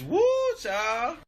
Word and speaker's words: whew chile: It's woo, child.